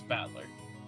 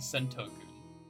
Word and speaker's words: Battler: just give me a break anyways my name's batler well it's pretty damn weird don't you think